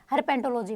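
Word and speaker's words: herpetology: किस में जाना पड़ेगा, हर्पेटोलॉजी में। ठीक है, हर्पेंटो नहीं है, हर्पेटो, में भी थोड़ा गलत प्रोनाउंस कर दिया, हर्पेटोलॉजी है। ठीक है, तो आप इस पर ज़्यादा फोकस करना, हर्पेटोलॉजी है।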